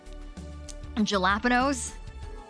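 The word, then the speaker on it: jalapeño: um uh spaghetti um jalapenos if there is a j that's intended to be pronounced like an h you bet i will still pronounce it like a j a jalapeno burger hell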